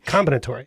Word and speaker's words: combinatory: the the combinat combinatory combinatory yes yes that's right the emphasis is on the first syllable yeah alore yeah exactly